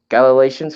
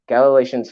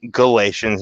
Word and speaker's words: Galatians: walk in the spirit galileans 5:25 G Galatians not Galatians Galatians 5 Galatians yeah